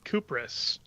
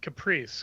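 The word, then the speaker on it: Kupris: And so everyone says Crisis. And it's actually pronounced Caprice because it's like live theater or Lithuanian or something.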